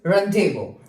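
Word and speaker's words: rendezvous: Number next word is रनडेवो। रनडेवो में हमारे पास two letters हमारे पास क्या है? साइलेंट है। That is जी एंड एस। Run Daewoo.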